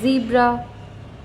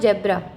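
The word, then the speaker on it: zebra: Words like जीब्रा, इट्स नॉट जेब्रा, इट्स जीब्रा, जू, zoom, जेस्ट, okay.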